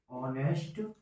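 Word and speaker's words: honest: लेकिन अगर हम इसका हिंदी उच्चारण लिखेंगे ऑनेस्ट मैन, और मतलब स्वर का उच्चारण हो रहा है ऑनेस्ट मैन से, तो इसलिए इसके सामने हम एन का प्रयोग करेंगे।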